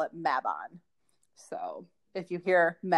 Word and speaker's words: Mabon: so maven is spelled m-a-b-o-n so here in america we pronounce it mabon because we like that drawn out a sound we love it we